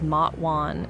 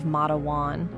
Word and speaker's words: Matewan: I had initially mispronounced it as Mwan instead of Mawan.